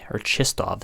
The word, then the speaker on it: Chistov: All right, so Chistov, sorry, is how you say it, is a offensive defenseman, 5'11" or 5'10", sorry, 80 rated medium elite.